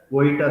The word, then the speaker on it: Vojta: is spelled as virgita therapy but it is pronounced as koita therapy oita therapy is a dynamic neuromuscular treatment